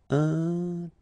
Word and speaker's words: intelligent: Final T not pronounced, so G-E-N, Jean, okay? Intelligent. Double L, it opens the pronunciation of your E, so it's E.